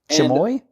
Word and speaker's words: chamois: stuff and the the spelling of this word CH am o is the pronunciation would be chamois chamoy attempt MOS chamois and that would be inside